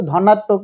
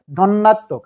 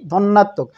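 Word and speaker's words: ধ্বন্যাত্মক: ধন্যাত্মক দ্বিত্ব উচ্চারণটা কিন্তু ধনাত্মক নয়, ধন্যাত্মক। আরেকবার বলি, ধন্যাত্মক।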